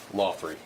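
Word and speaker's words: Laughery: Lothry. Lothry? Lothry. Like a TH in there as well? Lothry. Lothry. Just say it that way, even though it doesn't spell that way.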